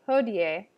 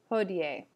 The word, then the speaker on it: hodie: latin word for today hodier you should pronounce both the i and the e and the end sort of like ho d a hodier the i makes a